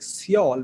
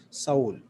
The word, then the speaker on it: Seoul: this country is seoul mostly we read it like seoul but the correct pronunciation of this word is soul so it's a very